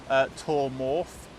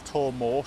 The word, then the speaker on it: Twr Mawr: at this half here the lighthouse is called tor morph or tor more sorry I to Google how you pronounce it it's actually quite easy really cool